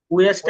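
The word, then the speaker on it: which: হুইচ না, হ হবে না, উইচ, উইচ।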